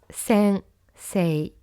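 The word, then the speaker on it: 先生: Et pour le mot Sensei, ça se prononce Sensei, avec le E qui glisse doucement, presque comme un long E.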